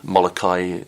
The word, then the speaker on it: Molokai: later and I flew across to the island Molokai as it's pronounced to Oahu as that is the swim